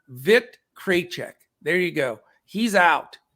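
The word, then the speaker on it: Vít Krejčí: pronounce one of our listeners sent me a pronunciation vic kraychek there you go he's out so just wanted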